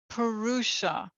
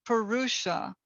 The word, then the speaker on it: purusha: to focus on the purusha i'll spell that for you it's p-u-r-u-s-h-a it's a sanskrit word